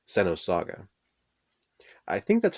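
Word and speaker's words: Xenosaga: the movie was called Sano saga I think that's how you're supposed to say it it's spelt with an X X e and o sa GA Center saga that's what I always called it but anyway I asked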